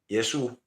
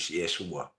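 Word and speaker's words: Yeshua: praying to other words because it's not Jesú is Jesúa.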